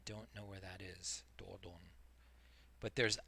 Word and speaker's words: Dordogne: You're in Dor Dor Dordogne Dordogne Dordogne. I don't know where that is. Dordogne.